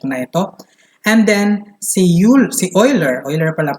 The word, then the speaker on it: Euler: And then, si Euler pala pagkaka-pronounce ito, Leonhard Euler, he developed the theory of buckling of columns.